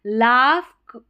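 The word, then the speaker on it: laugh: अब 28 spelling pattern है ना, इसमें जी एच को फ करके पढ़ा जा रहा है, अभी पहले साइलेंट था, यहाँ पर फ पढ़ना है। लाफ, कॉफ या कफ करके भी प्रोनाउंस कर सकते हैं। इनफ, यहाँ पर जो है जी एच को फ करके प्रोनाउंस कर रहे हैं, जी एच को फ करके पढ़ रहे हैं।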